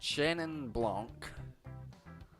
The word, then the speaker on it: Chenin Blanc: Oh, for those who come late tonight, drinking today, we have a fair trade Chenin Blanc. That's how you pronounce it.